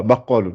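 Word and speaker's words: بقال: voilà, baqalun. C'est la prononciation du qa, on l'entend mieux dans ce mot-là.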